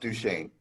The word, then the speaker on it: Duchesne: I'll answer to almost anything, but it's pronounced Duchesne.